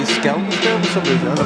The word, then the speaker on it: Skelmersdale: Up next, we've got 56 kg A-class fight between Alex Jones from Kearsley Muay Thai and Dom Hill from Skelmersdale. That's how you say it, Skelmersdale.